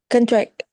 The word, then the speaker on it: contract: I think contract. Contract. Don't say contract. The contract. We stress the very first syllable.